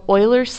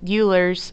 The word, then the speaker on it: Euler: Yes, it's pronounced Euler. I went all through college calling it Euler's theorem, and my professors looked at me like I was crazy. They failed to tell me that it was pronounced Euler, so I will enlighten you here.